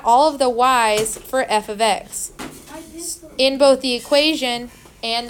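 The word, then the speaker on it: f(x): we're gonna call it function notation this is pronounced f of X stay with me yeah don't say FX don't say F times X don't say F parenthesis X so that's not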